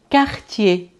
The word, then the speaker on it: Cartier: eu vou dizer também cartier. Cartier, que é bairro, mas não confundir o cartier com a marca Cartier, que se pronuncia da mesma forma, mas que escreve com C.